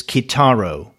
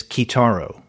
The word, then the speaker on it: Kitaro: And David writes, interesting, by the way, pronunciation is Kitaro. So there you go. You and I had been wondering how to pronounce Kitaro, Kitaro, Kitaro. And according to David, it is Kitaro.